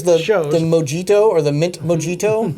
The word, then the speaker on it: mojito: Mojito or the mint mojito the Mojito exactly the J is silent and this one's the